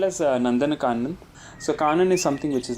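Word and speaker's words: Nandankanan: is is that what the how do you pronounce that the zoo it is called as nandanan so is something which is like a one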